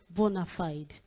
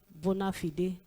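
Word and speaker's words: bona fide: I noticed that about two or three students used the word bonafide but they didn't pronounce it correctly. They were like bonafide and some other way they pronounced it. The word is bonafide.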